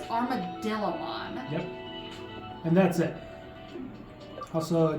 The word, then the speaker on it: Armadillomon: I always pronounce it Armadrillamon, but it's Armadillomon.